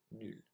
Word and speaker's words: nul: So here are the 8 words I mispronounced. So I should have said the second time traverser, dans, tout, Afrique, chameau, serait, génial, nul.